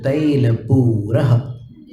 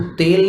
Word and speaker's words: तैल: 16वां काव्य है निर्धूम वर्तिरपवर्जित तैलपूरः। 3 बार रेफ है इसमें। निर्धूम वर्ति रपवर्जित तैलपूरः। इसको तेल नहीं बोलना, हिंदी में तेल होता है ना, यहाँ पर तैल है।